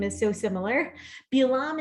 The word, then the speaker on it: Bilaam: Bilaam is just the Hebrew and Balaam is the English pronunciation, like David and David.